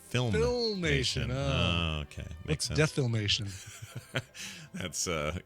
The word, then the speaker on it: Filmation: I'm sorry I'm oh I'm being told it's filmation film filmation okay makes sense that's a complete lack of filmation uh so that's going on that's a thing